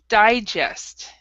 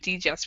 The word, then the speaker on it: digest: far as pronunciation F this word right here H digest is how we say it instead of deest we say digest okay all right okay